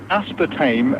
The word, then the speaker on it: aspartame: a test of it he you Wally anyway aspartame as it should be correctly pronounced right is related to a subst can